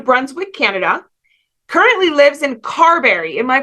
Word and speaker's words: Carberry: from frederickton New Brunswick Canada currently lives in Carberry am I pronouncing that correctly yes Carberry Manitoba Canada she's partner to sha dog mom